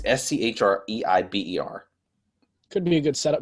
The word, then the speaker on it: Schreiber: I think that's pronounced. It's Schreiber.